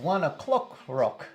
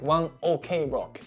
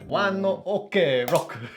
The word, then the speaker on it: ONE OK ROCK: I thought it was 1 o'clock rock, like 1 o'clock. そうそうそうそうそう。 Oh, 1 OK rock. だけど、when he says it in English, it's actually pronounced one o'clock in Japanese, but he pronounced it in English. He said like one OK rock.